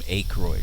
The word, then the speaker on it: Aykroyd: do you call him Aykroyd because he is this thing starts with a why yes that's how it's pronounced well when you challenge